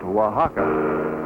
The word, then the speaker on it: Oaxaca: a man arriving in Oaxaca which is pronounced Oaxaca we push right on